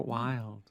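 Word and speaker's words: Wylde: And for that, you look for Wild. Wild is spelled W-Y-L-D-E.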